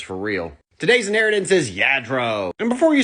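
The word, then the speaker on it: Lladró: It's Yadro, not Ladro, not Luro, which sounds like a up and cominging rapper from Atlanta.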